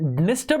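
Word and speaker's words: Dniester: नाइप एंड don river तो निस्टर और नाइप पर में डी साइलेंट होता है ठीक है डेन्यूब नास्टर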